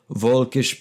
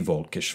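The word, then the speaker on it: völkisch: In German, it is the Volkisch Bewegung. Yeah, I wrote out the pronunciation and phonetics. In English, it roughly means the people's movement. Volks, V-O-L-K, F-O-L-K.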